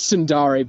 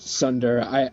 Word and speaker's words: tsundere: It's Sundari, but I just pronounce it Sunder. I know it's wrong, but fuck it. I'm just gonna call it Sunder because that's what it looks like.